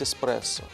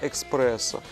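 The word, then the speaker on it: espresso: итальянскую то естественно нужно говорить эспрессо Вот Но поскольку многие из нас учили английский язык и знают сдвоенные согласные да то соответственно мы говорим иногда Экспрессо с точки зрения латы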